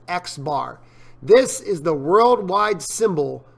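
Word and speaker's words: x̄: It's literally pronounced X bar.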